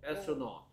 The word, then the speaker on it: astronaut: 얘 AU가 뭐 AU나 AW는 무슨 소리 낸다고 가르쳐줬어요 내가 발음할 때. 오 된다 했어. 오 astronaut.